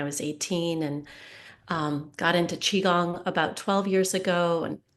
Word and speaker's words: Qigong: So Lori Lehman is actually a health and wellness instructor, and she specializes in Qigong. I don't know if I pronounced that correctly.